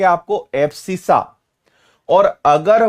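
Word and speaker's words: abscissa: और इसको हिंदी में इसको प्रोनाउंस क्या करते हैं? एब्सिसा।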